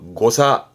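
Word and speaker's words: 誤差: 발음은 사가그. 사가그. 오자입니다. 오차네요. 고사.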